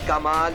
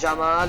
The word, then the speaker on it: Gamal: It's not Gamal, it's Jamal, but the Egyptian dialect is pronounced as a J.